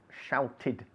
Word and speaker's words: shouted: i shouted very important the verb to shout ends in a t and therefore as it's regular the pronunciation of the past is shouted okay we pronounce the